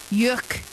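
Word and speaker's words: yeurk: Et Oriane, est-ce que tu peux le prononcer déjà? Yurk.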